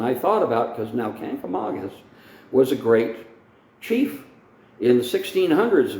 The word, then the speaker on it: Kancamagus: a lot of locals say the word canker Mangus there's no such thing as kancamangus you look at the word on the canker Magus highway and it's Kancamagus there's only one n in it and the Kancamagus Country